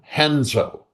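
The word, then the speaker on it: Renzo: uh uh uh uh henzo. Yeah, R is on the R is dropped. Yeah, R is on the beginning of words. It's not dropped. It makes an H sound.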